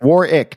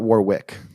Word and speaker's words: Warwick: what the hell whatever War ick not Warwick Warwick you know how